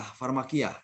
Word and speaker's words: pharmakeia: buku kamu strong konkordans dikatakan pharmakeia ya bacanya farmak format kiah far Makiyah ya nah jadi kalau kita